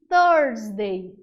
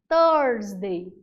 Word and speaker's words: Thursday: A quinta-feira a gente chama de Thursday. Thursday. É aquele enrolar da língua para pronunciar a palavra quinta-feira em inglês.